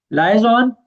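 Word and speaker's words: liaison: है super means kind लजोन या लजन भी इसको पढ़ते है डिफरेंट तरीके से इसको प्रोनाउंस किया जाता है सो लज़न का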